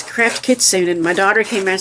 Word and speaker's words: Kitsune: It's Craft Kitsune. And my daughter came and said, well, the Japanese pronunciation is Kitsune, but the American version is Kitsune.